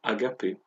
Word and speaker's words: agapé: verbe qui en grec se traduit, se prononce agapé.